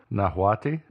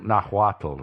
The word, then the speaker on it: Nahuatl: how is that again nahuati that one nahuatl i'm sorry not wattle yes that the spanish